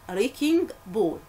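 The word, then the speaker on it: wrecking ball: اد سايلنت لا تنطق اسمها ريكينج بول ريكينج بول يعني ايه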